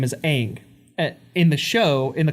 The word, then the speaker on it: Aang: of the cultural pronunciation the cultural pronunciation would be more like on but in the cartoon